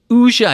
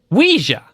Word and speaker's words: Ouija: Like the French oui. Oh, and then ja. Or ja or ja? Like a German ja. Oui, ja.